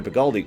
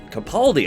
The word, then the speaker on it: Capaldi: be so bold I actually thought Peter Baldi or Peter galdi excuse me Capaldi I can't say his